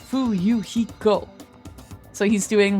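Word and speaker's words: Fuyuhiko: My first name is pronounced Fuiko.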